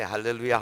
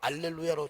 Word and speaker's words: 할렐루야: 아프리카 가도 우간다 가도 통한데 할렐루야 하면은 아멘 이런다 그러네요. 얼마나 감사해요. 이 하나님께서 우리에게 주신 말 가운데 이 할렐루야 할 H인데 H 발음이거든요. 근데 지난번에 찬양대 보니까 알렐루야로 자꾸 하더라고.